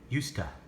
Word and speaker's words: used to: today we're going to practice the sound of used to when we're speaking these sound the same just like used try to say that usta okay so let's listen unit 1 page 122.